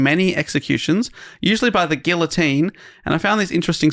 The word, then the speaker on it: guillotine: Guillotine. Doge. I don't think it's you pronounce the L's, Dave.